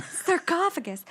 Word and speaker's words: sarcophagus: sarcophagus. So it's SARCOPH, not cough.